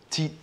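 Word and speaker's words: Thyl: Because I understand I didn't pronounce it correctly, and this is the time to be assertive. Tile. Tile? Tile. T-H-Y-L. T-H-Y-L. Yeah. Thiel.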